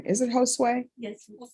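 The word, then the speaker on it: Josué: How do you pronounce that first name? Is it Josue?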